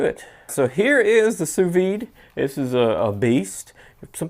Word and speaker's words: sous vide: say the de but I looked up the translation is sous vide like that so it kind of hits the D a little bit so if you kind